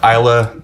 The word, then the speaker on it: Islay: a fan of heavily peeded uh Smoky uh Isa style scotches and that is how you pronounce it Isa uh don't argue with me I didn't I